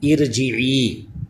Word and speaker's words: ارجعی: وقت عارضی کہلائے گی۔ اسی طرح یہ ارجعی یہ لفظ ہے سورہ فجر 30ویں پارے میں، اس میں یہ لفظ آئے گا، تو اس الف کے اوپر کوئی حرکت نہیں ہے، تو جب اس کو الگ سے پڑھیں گے تو الف کے نیچے زیر پڑھا جائے گا، اس وقت یہ عارضی زیر کہلائے گی۔ چلیے سبق